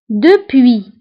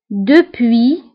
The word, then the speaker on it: depuis: ننطقوها نقول بيانتو bientôt depuis depuis كتعني منذ depuis depuis منذ فهنا ايضا depuis نكتبها بس في اخر الكلمه ولكن لا ننطقها depuis منذ déjà déjà